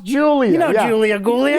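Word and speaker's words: Giulia: Kind of looks like it says Gulia, but it's pronounced Julia.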